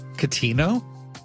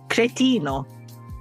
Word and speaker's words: cretino: Catino? Cretino. Cretino? Yes. Is that Italian? Yes. Okay. How do you spell it?